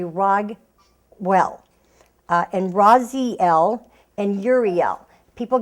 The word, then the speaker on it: Raguel: Everybody wants to pronounce that Raziel, but it's actually Raguel.